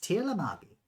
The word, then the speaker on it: Tirlamagi: as Tirlamagi. What? Tirlamagi. Spell it.